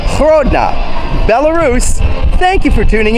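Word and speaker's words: Гродна: lot of money from Grodno or as it is pronounced in Belarusian Hrodna Belarus thank you for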